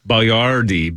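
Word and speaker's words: Boiardi: Spelled differently, but pronounced the same way, I believe. Let's see. Etiar Boyardee. Yep, Boyardee. B-O-I-A-R-D-I.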